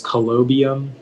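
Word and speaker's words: colobium: the information yeah so the only pronunciation is collobium it's a noun and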